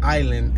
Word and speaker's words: island: always felt strange pronouncing island as island but when you look at the word it looks like island the s is silent there's a lot of